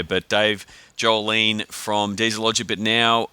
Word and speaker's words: Sjolin: from Portland Oregon Dave Jolene always have trouble with your name Dave with that silent s silent J what I don't know what's going on there but Dave jool leene from diesel logic but